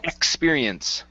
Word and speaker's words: experience: the other one is the X sound here in experience okay give me a k there experience experience good all right nice